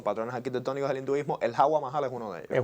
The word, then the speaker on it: Hawa Mahal: Se pronuncia Hawa Mahal.